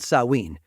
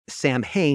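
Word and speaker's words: Samhain: ancient Celtic Festival called saween a word that by the way is often pronounced Sam ha because of the way it's spelled but you're getting it straight from the source here they believe that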